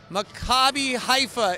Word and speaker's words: Maccabi Haifa: So it's Maccabi Haifa is how you say it.